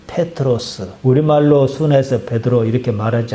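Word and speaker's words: Πέτρος: 그건 아람어식 발음이고 성경에 기록한 헬라식 발음은 페트로스.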